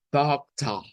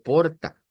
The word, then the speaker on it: porta: Entonces, ya esta palabra suena como pocta, pocta. Maisa pocta. Es muy diferente a decir porta.